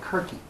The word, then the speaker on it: Kyrkee: The town is called Kirky. Okay?